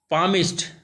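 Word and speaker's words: palmist: वन डे, एक दिन, ए पामिस्ट, ये एल एल साइलेंट हो जाए, पामिस्ट, पामिस्ट मतलब होता है हाथ देखने वाला, हथेली को देखने वाला।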